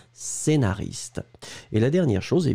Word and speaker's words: scénariste: que nous cherchions scénariste vous l'écrivez SC le prononce pas e accent aigu Naris te scénaris scénariste ça n'est pas ce qu'est nariste c'est vraiment scénariste et la dernière chose